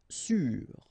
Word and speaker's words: sûr: Sûr. Sûr. Okay, even if you get this accent circonflexe, you don't pronounce it, so you get the same pronunciation, sûr and sûr.